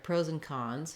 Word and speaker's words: pros and cons: But when I link these two words together, pros and cons, you can hear that I'm not really saying and. There's kind of no d sound, and there's not much of that ah vowel anymore. It becomes more of a reduced vowel, pros and cons.